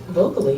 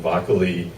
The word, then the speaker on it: Vocoli: We've seen pretty much every single version, Vocoli, Vocoli. It is vocal, so it is allowing your team to be vocal.